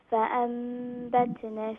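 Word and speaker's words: فأنبتنا: Arda shaqqa, fa'ambatna fiha. Fa'ambatna, na, one alif long, alif madda there.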